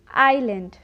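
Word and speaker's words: island: में आता है तो वहां पर ऐश का उच्चारण नहीं किया जाता है एग्जाम पर आई ऐ एस एल ए एन डी आईलैंड इट्स not lose इसे हम करेंगे आईलैंड उसी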